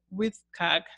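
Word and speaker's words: WCAG: web content accessibility guidelines the acronym is w CAG and it is pronounced with CAC 2.0 and the World Wide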